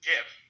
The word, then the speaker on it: GIF: Where we have two, and yes, it's pronounced GIF.